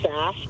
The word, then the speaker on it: Sass: Name rhymes, Sass rhymes with gas or ass.